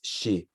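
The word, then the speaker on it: 四: 42 is in Japanese, the number 42 and 49, I hate it because 4 is pronounced as she, so it's the same as death.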